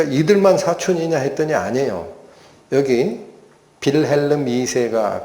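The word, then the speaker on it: Wilhelm: 여기 빌름 이세가 그 당시 독일의 통치자인데 어이 제 지금 맞는지 모르겠어요. 독일어 발음으로론은 빌름인데 이게 영국식 발음으로 윌리엄일 거야 아마.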